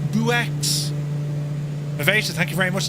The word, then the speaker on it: Buochs: When you're flying around my place, the place is pronounced, wait, Buochs. Buochs, not Buochs, Buochs.